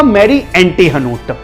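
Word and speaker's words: Marie Antoinette: ये मैरी Antonia का French में प्रोनाउंसिएशन हुआ मैरी एंटीहनोट।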